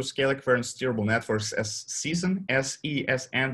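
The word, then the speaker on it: SESN: current steerable networks as season s-e-s-n but we pronounce it as season just to just to make it fancy um so okay we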